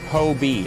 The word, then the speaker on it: Hobie: Um, Hobie. Okay, it is. It's Hobie. I'm I am saying it correctly. Hobie. Hobie. Hobie. Not hobby.